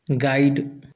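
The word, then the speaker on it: guide: गाइड गाइड में भी you silent रहता है।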